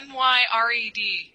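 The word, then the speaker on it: Myred: end my and Cindy phonetically it's m y r e d my red myed well Miss McDonald you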